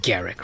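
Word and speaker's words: Garruk: game as Karuk well everyone calls it Garak right but I kind of like pronunciate as Karuk hunt bigger game is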